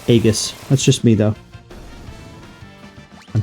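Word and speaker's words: Aegis: Shield is incredibly good or IUS however you want to say it I always pronounced it agus that's just me though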